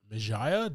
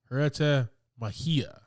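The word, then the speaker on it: Huerta Mejía: Um Tino Hera Majaya. Did I pronounce that correctly? Probably Mahia. Majia Tanak Jay's Jay is gonna be your H there. Hera Hereta. Uh pretty good. Hereta Mahia.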